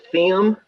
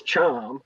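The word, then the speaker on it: Thiam: pod of this season, you were calling him Mustafa Thiem. And I was like, now even I know it's Chom.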